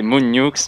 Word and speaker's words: MoonNewx: C'est Moon Nukes, mais dites juste Moon. Voilà, Moon. Moon, si tu peux te présenter un petit peu, histoire de savoir, te connaître un petit peu. Moi c'est Moon Nukes.